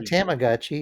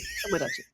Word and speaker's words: Tomodachi: It's not Tamagodachi. It's tommoachi. Tomodachi tommoachi.